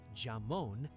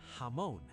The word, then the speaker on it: jamón: The same rule applies to the word jamón, which means ham, not "jamon". "Hamon". The J is always H in Spanish. Always.